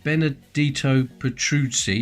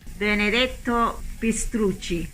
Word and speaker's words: Benedetto Pistrucci: It was designed by Benedetto Petruzzi, I think that's how you pronounce it, but luckily one of my workmates is Italian, so I got her to say it. It sounds like this. Benedetto Pistrucci.